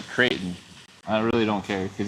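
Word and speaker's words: Creighton: I'll just say Kraton.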